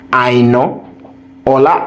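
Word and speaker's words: Aina: points guys let me tell you the real pronunciation of that I knowa I know yeah that's the real pronunciation as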